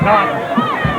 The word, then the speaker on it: Naughton: Naughton. That's not how you pronounce it. It's just Todd Naughton.